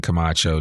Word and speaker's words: Camacho: without further Ado I want to welcome Camacho to the I am Northwest Arkansas podcast how